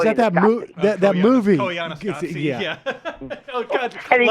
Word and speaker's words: Koyaanisqatsi: And he goes, it's like calling a Squatchquee or something. And David Letterman corrected that he got the name wrong. Oh, it was so good. Oh, was that that movie? That movie? Koyaanisqatsi, yeah.